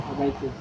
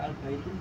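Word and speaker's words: البيت: lamnya tidak ada datainnya Jadi cukup dumah dibaca dumah albaitu albaitu kalau tetap baca albaitun salah albaitun misalnya albaitun enggak salahya salah yang benar albaitu kalau albaitu enggak ada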